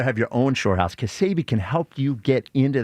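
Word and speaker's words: Ksebe: Kasabi. How do you spell it?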